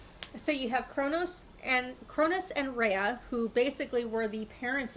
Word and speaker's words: Rhea: Am I pronouncing it? Rhea.